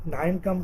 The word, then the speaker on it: KNIME: Data science का introduction लेंगे, applications क्या क्या है इसकी, और इसमें एक 9 कम टूल लेंगे, के साइलेंट है, KNIME, रैपिड माइनर देखेंगे, गूगल बिग क्यूरी ML देखेंगे हम।